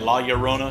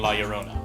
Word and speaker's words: La Llorona: pronouncing her name right, La Llorona, so double L, so it makes Y sound or something.